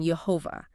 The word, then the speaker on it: Jehovah: 3 with Babylonian pointing, they still lead to the pronunciation Jehovah.